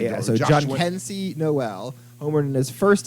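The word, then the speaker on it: Jhonkensy: How do you pronounce his name? John Kensey.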